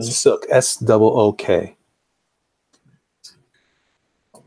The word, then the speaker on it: Sook: How you spell it? Sook.